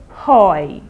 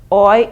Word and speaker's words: hoy: say in spanish lunes remember the h is silent in spanish so you don't say hoy okay you start from